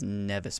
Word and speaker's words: Nevis: kaisen capital planet is nevis prime sounds like optimus prime after nevis prime kaizen